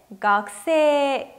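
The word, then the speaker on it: 学生: 학생은 발음할 땐 각세 길게 발음하죠.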